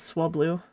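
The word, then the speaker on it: Swablu: It's like how a licensed Scholastic Pokemon encyclopedia right Swabloo is pronunciation is Swablooh.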